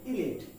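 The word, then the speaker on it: elite: টি ই উচ্চারণ কি আমরা এটাকে ইলাইট বলি কি বলি ইলাইট কিন্তু এর উচ্চারণ হচ্ছে ইলিট তার মানে ইলাইটে আসলে লাইট নেই কি আছে লিট আছে তার মানে এর উচ্চারণ হবে ইলিট সংক্রান্ত অর্থে ব্যবহার করা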